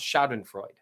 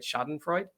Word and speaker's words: Schadenfreude: of you took and me not being able to pronounce schadron Freud that's how you say it right schadenfreude anyway um it's a